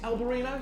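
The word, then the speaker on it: albariño: a spanish dry albarino's el barino is how you say it spanish dry albarino beautiful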